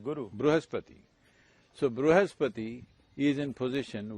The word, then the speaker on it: Brihaspati: Brihaspati, Guru. Brihaspati.